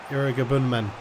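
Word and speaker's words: Iroegbunam: There's Irigabunman. That's how you say his name.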